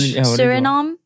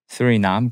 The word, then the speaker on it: Suriname: Suriname.